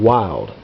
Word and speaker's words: Wylde: one's chambered in 223 wild w y lde is how that's spelled and I can't remember